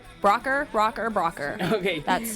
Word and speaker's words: Broucher: It is pronounced Brocker. Brocker.